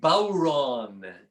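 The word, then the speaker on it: bodhrán: drum it's called a bauron in the irish language uh spelled b-o-d-h-r-a-n but it's pronounced like uh you know bow like you take a bow and ron and it's an instrument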